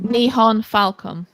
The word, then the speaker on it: Nihon Falcom: rewarded nice very nice niha how do you pronounce the nihon falcon nihon falcom and that's the developer um it's published in